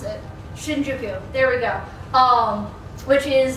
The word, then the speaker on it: Shinjuku: slide, and I suddenly cannot remember how to pronounce it. Shinjuku, there we go.